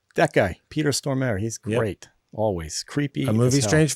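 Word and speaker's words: Stormare: there peter what side he pronounced his name storm air that guy peter stormer he's great always creepy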